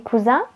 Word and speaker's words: cousin: Coussin, c'est pour dormir et cousin, c'est un membre de votre famille. Quand vous avez un S entre deux voyelles, vous allez prononcer le son Z.